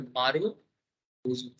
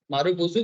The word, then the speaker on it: Marubozu: तो सर आज जो सिंगल कैंडल पैटर्न हम लोग सीखने जा रहे हैं, इसका नाम है सर मारू बुजू। ठीक है, मारू बुजू, कोई कोई बोलता है मारू बुजो।